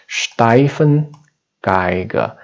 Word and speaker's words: Stefan Geiger: name steifan geiger so this name actually is the german name and pronunciation is a little different from english it's a steifen geiger and of course we